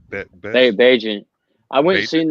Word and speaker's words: Bagent: Baget? Bagnet? Bagent.